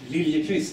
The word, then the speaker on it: Liljeqvist: Yes, my last name is pronounced Liljeqvist in Swedish.